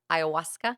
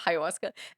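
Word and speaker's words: ayahuasca: I I'm going to say it right now this time iasa instead of haasa and or like DMT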